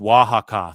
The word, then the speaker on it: Oaxaca: It's pronounced Oaxaca.